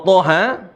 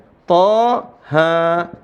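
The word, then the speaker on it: طه: ya dalam Surah Thaha cara bacanya tha ha ya th ha alasannya sama ini karena ada Hamzah thoun Kalau ha Haun ahah seperti itu karena ada Hamzah justru jadi dibaca Dua harakat wallahuam bisawab maka cara bacanya di sini dalam Surah Thaha Thaha bisa diikutin Thaha Jadi bukan dibaca TH Ha Enggak bukan seperti Shad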